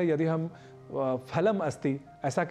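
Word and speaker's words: फलम्: दिया करते हैं उसी तरीके से यदि हम फलम अस्थ ऐसा हैं तो संस्कृत में यह अशुद्ध उच्चारण होगा तो हमें अशुद्ध उच्चारण नहीं करना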